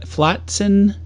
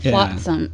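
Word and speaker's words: Flotsam: to the car section believe me and uh flaton and oh that's it it sounds like you're barfing though flatsome flatsome oh I said it wrong but yes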